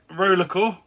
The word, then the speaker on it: RollerXcore: systems and Eddie over roller cor with a silent X in the middle uh put a VR